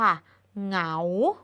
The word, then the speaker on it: เหงา: คำ ต่อ มา ค่ะ เหงา เหงา คำ ว่า เหงา เกิด จาก ของ เอา เหงา หอ งอ เอา เหงา ไม่ มี ตัว สะกด